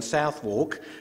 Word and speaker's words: Southwark: to feel would be how you pronounce this term in England we're very strange so that a bit sister becomes vista and Cirencester has its own definition and this is stomach